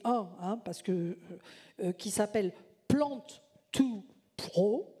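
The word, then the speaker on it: Plant2Pro: parce que, qui s'appelle Plant2 Pro. Ça s'écrit P-L-A-N-T, 2 P-R-O. Ça veut dire de la plante aux professionnels. Le to, c'est pour T-O en anglais. Mais bon, c'est écrit comme ça.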